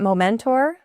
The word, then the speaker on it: Mom Mentor: the core of your Mom Mentor, am I pronouncing that correctly? I just say it Momentor, Oh, okay. and it is built around mom and men and Okay. a mentor and the moments.